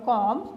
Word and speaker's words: comb: आपको अगर कोई कहे कि आपने राइट डाउन करना है वर्ड कॉम, तो आपने COM नहीं लिखना बल्कि COMB लिखना है।